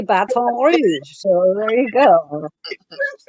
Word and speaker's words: Baton Rouge: But no one says Baton Rouge. They say Baton Rouge.